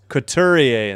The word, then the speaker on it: Couturier: Got to get a pronunciation on that name. Couturier.